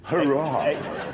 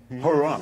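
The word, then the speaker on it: Huayra: the replacement for the Zonda is called the Hurrah. So it's spelled H-U-A-Y-R-A. The Hurrah.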